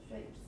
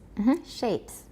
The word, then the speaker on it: shapes: a number of other shapes. Shapes. Shapes. Look at my mouth. That's pretty good. Shapes. Shapes. Yeah. Don't round shapes too much. Watch. A lot of you are saying shapes, but it's shapes.